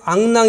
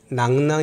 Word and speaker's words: 낙랑: 합니다 두 가지로 나오죠 그랬을 때 앙 낭 이라고 읽으면 안 되고 반드시 낙랑 이라고 이래야지 된다 여러분의 앙 남우현 토 그럼 잘 못알아 좋겠지요 다 낙랑이 라고 해야 됩니다 제가 팀 현 토